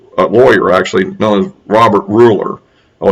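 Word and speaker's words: Gruler: lawyer actually known as robert ruler oh it's spelled with a g the g is silent in this case um who um is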